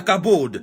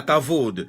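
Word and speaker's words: כבוד: La gloire, c'est la kabod. Certains Hébreux prononcent ça la kavod.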